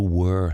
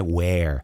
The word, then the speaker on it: were: Olha a pronúncia do were, não é where.